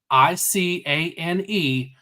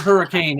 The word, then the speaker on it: Hurricane: You got a little town, and it's spelled HURRICANE, which you would normally pronounce hurricane. Yeah. You do not pronounce it hurricane in West Virginia.